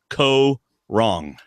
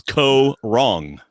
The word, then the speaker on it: Kaôh Rōng: The cast has been announced for Survivor season 32, Corong. That is how you pronounce it, David. co- wrong. I'll be letting you pronounce it all season long. And I'm not wrong. It's co- wrong.